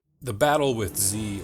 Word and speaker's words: Z: the battle with Z or rather as British pronounce it Zed himself was nothing short